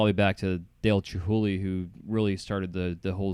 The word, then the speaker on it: Chihuly: are like, oh, Dale Chihuly, he is. I'm like, yeah, of course. Or I hear like Chihuki. People can't even say his name right.